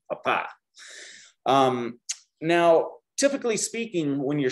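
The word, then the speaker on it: papá: mark and that means we have to shift the emphasis of our pronunciation papa now typically speaking when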